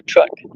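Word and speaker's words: tronc: about many aspects of the tree like the track which is T R O N C and of course many trunks.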